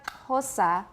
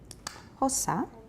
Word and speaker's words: Xhosa: And that's why hosa is pronounced with a lateral click plus aspiration.